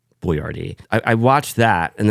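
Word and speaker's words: Boiardi: Mr buard he had the Italian name and then he he had the foresight to know that Americans were really stupid so then he had to respell it basically phonetically cuz he had the foresight to say Americans are G to get progressively stup stupider so I'll just spell it out for them since they can't pronounce words like boardi I I watched that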